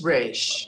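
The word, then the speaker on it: resh: letter remembering this letter this is your rage oh okay okay I got to remember the letter it's Rich it's the r sound the rage so you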